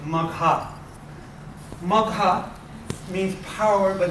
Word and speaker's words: Magha: because female names always have a long spell. So Magha.